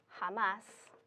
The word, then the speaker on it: jamás: But if you have a word like jamás, we're emphasizing the last syllable, and you need to have a written accent mark to show that.